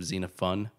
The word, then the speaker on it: Xenophon: saying xenophone instead of xena fun which is how you're telling me it's pronounced um but we're just gonna disagree on this team xenophone all the way um xenophone sounds too much like xenophobe so you can have